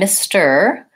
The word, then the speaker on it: Mr.: first syllable stress, and Mr., again, the S sound, Mr., and then going right into the vowel from my T, and again, first syllable stress, Mr.